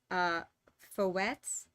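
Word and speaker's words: fouetté: So, and by the way, is it pronounced Fouettes?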